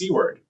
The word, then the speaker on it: CWARD: For example, the spelling of C w departure is pronounced cword.